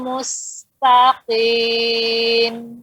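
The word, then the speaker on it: مستقيم: Ya, pada ko, perhatikan di sini, Umum, ya nggak boleh qi, ya, karena ko suaranya kuat, ya, dan dia satu titik, ya, jangan qi, qi, ya, ulangin. Ihdinas siratal mustaqim.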